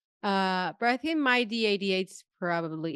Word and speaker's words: MyD88: ways of pronouncing it I would I say myd88 at least that's how my lab said it back in the day as I heard people say mid mid 88 uh but I think